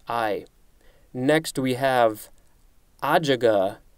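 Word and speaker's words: ajuga: i next we have adjaga i i'm guessing that's the pronunciation based on the little pronunciation guide a-j-u-g-a i have never seen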